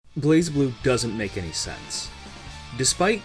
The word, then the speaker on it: BlazBlue: blazeblue doesn't make any sense despite stylistically missing the E you're required to toss aside your understanding of the English language and simply accept that pronunciation is blaze blue it's the strongest ringing